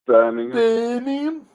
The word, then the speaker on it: Birmingham: eastern birmingham birmingham that's how you say it birmingham you live in the area of birmingham i